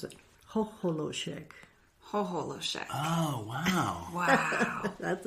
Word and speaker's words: Chocholousek: Chocholousek. That's the last name. Hoholoshek. Yeah. Yes. And that's like the phonetic spelling. It looks like maybe you have there. That's awesome. That's how they pronounced it, Hoholoshek.